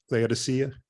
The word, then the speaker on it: Laodicea: In Turkey, Laodicea.